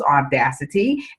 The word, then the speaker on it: Audacity: All right, and it's spelled just the way it sounds, Audacity, A-U-D-A-C-I-T-Y.